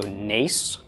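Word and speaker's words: נס: some ik all right this would be pronounced the end of the nun a of the zero and the S of the summit so NACE mace and mace is a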